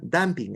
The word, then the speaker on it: dumping: el tamping no sé se escribe dumping pero se pronuncia damping Es un término en